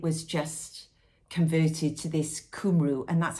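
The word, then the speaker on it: Cumru: this one is Katherine shenaman and it says kumu that's how you pronounce it kumu time ship which is a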